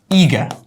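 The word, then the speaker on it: eager: উৎসাহটা সেটাকে আমরা বলবো ইগা ওকে easy ইগা ইট is very easy very simple ইগা মানে আমরা এই আর যেটা আছে আমরা ইগার বলবো না আমরা বলবো ইগার it will be silent and meaning one টু ডু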